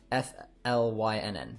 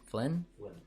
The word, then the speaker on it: Flynn: nice fan i like it flying flying i pronounce it f l y n n flynn flynn okay wanna make sure i pronounce your